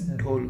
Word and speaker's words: dhole: is actually called whole the spelling is dho and e but it is pronounced as dole okay so dole is